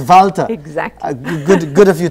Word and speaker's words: Walter: interviewed i said miss walter which is the english we of course the german pronunciation is valtter exactly good good of